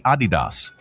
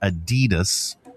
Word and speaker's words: Adidas: Yeah, it's supposed to be Adidas. uh with a slight emphasis on the first syllable, not Adidas stressing the second. So, Adidas, I knew that.